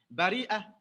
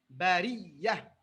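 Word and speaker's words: بارئ: Bari'a, non, ça c'est en warsh. Donc bari'a. Mais pour que ce soit plus simple à prononcer, en hafs on dit bariya.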